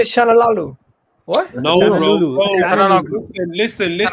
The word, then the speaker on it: Çalhanoğlu: timeline earlier that maybe Çalhanoğlu could be a possibility or an option.